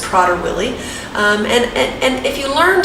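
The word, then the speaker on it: Prader-Willi: more about prodder willie i used to pronounce it prater willi you might have been too but i've learned that it's prodder willie and and if you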